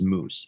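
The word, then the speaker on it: mūs: so those languages that pronounce it roughly like moose rhyming with goose right so old English was moose m-u-s Old Frisian or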